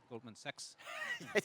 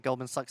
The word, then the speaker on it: Goldman Sachs: crypto um Goldman sucks uh last year had a mispronunciation Goldman sex that's okay I would pronounce it Goldman Sachs as well yeah um and we